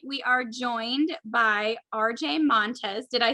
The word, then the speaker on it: Montes: are joined by rj montez did i say did i pronounce your last name right rj okay yeah okay it's an s but it sounds like a z so it's all good